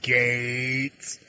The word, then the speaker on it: Gaetz: And I do mean Gates. That's Gates. Okay?